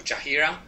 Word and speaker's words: Chahira: this socializing uh to ask a question to chahira I think if I pronounce right the word your your name um